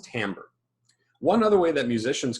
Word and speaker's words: timbre: It looks like it says timbre, T-I-M-B-E-R-E, but it's actually pronounced timbre.